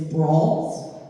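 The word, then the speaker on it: branle: look on your program, I believe the correct pronunciation, though this could be an urban myth, is brawls. So we're going to be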